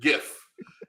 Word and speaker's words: GIF: It's a GIF. It's a hard G for hard G's. It's hard G's.